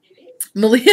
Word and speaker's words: Malia: Malia and I were talking on the way home. I drove down with Malia, rhymes with Maria, of the Yarn Raising podcast.